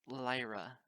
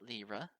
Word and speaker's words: Lyra: It's Lyra, not Lyra. I almost snorted, fighting to contain my giggles. It's so silly how you say it. He smiled bashfully and shrugged. The other way sounds rude, like I'm almost saying the word liar.